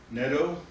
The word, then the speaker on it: Netto: The next recommendation I'd like to put before the board is the appointment of Ashley Netto, rhymes with Meadow, as the diversity teacher.